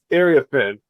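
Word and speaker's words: Iriafen: Angel Reese, Paige Beckers, Sonia Crichton, and how do you pronounce Kiki's last name, Danny? Area Finn.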